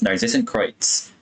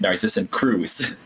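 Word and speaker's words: Narzissenkreuz: I had no idea how that was supposed to be pronounced until Sandrone pronounced it in the non-Cry Archon quest, and I was like, I've been pronouncing it wrong the whole time. I was calling it Narcissan Cruise.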